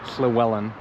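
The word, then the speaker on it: Llywelyn: the Welsh were like Llewellyn or Slewellan the Great. Welsh is quite tricky. When there's a double L, it's like pronounced, which is hard for me to do. So, Slwellen the Great.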